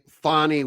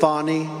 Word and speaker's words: Fani: Fulton County DA Fani Willis. Fani Willis? How do you pronounce it again? Part of it. You saw what happened in Atlanta with Fani, F-A-N-I, Fani.